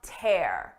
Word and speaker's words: tear: Listen to the difference. Seeing the tear in my shirt brought a tear to my eye. First, we have tear. You can tear a piece of paper.